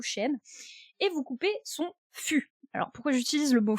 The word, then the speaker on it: fût: Alors vous imaginez un beau chêne, un très gros chêne, et vous coupez son fût. Alors pourquoi j'utilise le mot fût? On a 2 mots... Il faut surtout bien prononcer, parce que moi j'ai entendu cul.